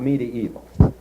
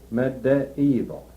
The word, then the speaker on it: medieval: But the second one is short in both pronunciations which they give. medieval.